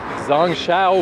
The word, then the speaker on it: Zhongxiao: But I'm on the Zong Shao Bridge, which again, I'm still learning pronunciations. I don't actually know anything except that perhaps the X sound is a sh sound.